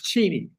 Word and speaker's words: Cheney: So Cheni and his name is pronounced Cheni. I'm sorry. Check. That's what I remember. You always made a big deal of that in the show. Ask his wife. Ask his daughter. It's Cheney.